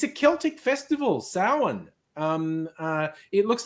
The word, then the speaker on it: Samhain: It looks like Sam Hain when it's written out, but it's Gaeilge. It's the Gaelic language. It's counterintuitive. It's pronounced Samhain.